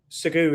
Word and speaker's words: Sagu: how you sagu sagu is how I would pronounce it if I use my name I'd say sagu okay is a special meaning it's What kind?